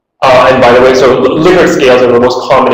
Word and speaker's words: Likert: And by the way, so Likert scales are the most common example of summated rating scales. It's actually pronounced Likert, not Likert, as many people say.